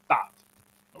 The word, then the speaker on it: Thoth: It's spelled like thought, but with an H at the end. Thoth.